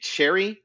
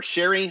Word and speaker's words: sherry: some crab you take cherry or sherry i always pronounce that wrong it's gonna say if